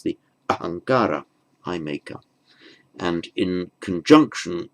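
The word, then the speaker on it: अहंकार: It's the ahankara, I maker. And in conjunction with the following word, ahankara, the final M of aham becomes anuswara there. So it's pronounced, written ahamkara, pronounced ahankara.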